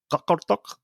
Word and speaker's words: Qaqortoq: So the Hedtoft arrived at Julianehab in Greenland, which is now known as Qaqortoq, is the best I can do for the local pronunciation of this place.